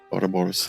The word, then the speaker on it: Ouroboros: Ouroboros, thank you.